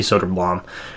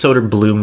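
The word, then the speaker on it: Söderblom: Sorry, I always say Soderblom. It's Soderbloom because that's how it's pronounced, I guess.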